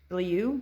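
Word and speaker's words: Bilyeu: listening this morning to a podcast between Tim bilio until you say his name Billy you billio um he does a podcast called impact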